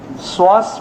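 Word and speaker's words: psoas: तो सुहास आणि सॉस यांना दोघांना कंपेअर केलं, एकत्र केलं, श्वास मेजर मसल.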